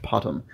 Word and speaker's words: POTM: Priestess of the Moon, similarly shortened to POTM, pronounced Potom.